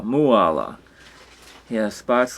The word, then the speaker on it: Mooala: And here's Mooala in the tree, pronounced like koala, Mooala.